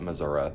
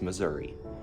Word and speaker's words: Missouri: but also, people in Missouri have no collective pronunciation on it. Some people will call it Missouri, which I hate. It's Missouri.